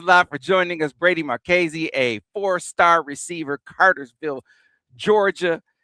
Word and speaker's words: Marchese: So, Brady, how do we pronounce your last name? Marchese. Marchese.